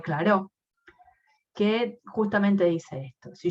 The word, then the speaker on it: Clairaut: Se escribe Clairaut, pero se dice teorema de Clairaut, que justamente dice esto.